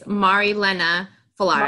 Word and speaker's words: Marilena Fallaris: So first of all, can you give me the correct pronunciations of everything? Absolutely. It's Marilena Fallaris.